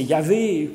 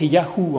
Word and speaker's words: Yahvé: Ce Yahvé, Donc c'est le tétragramme YHWH qui est parfois prononcé Yahvé, qui se prononçait plus à l'époque Yahou en fait, comme dans le nom,